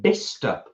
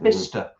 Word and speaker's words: Bicester: It's in Bicester. Is that it? Is that how you pronounce it? Bicester.